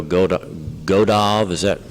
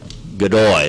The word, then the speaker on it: Godoy: The next request is from the sheriff to send Matt Cooper and Eduardo Godov. Am I pronouncing that right? Godoy, that's a Y, not a V.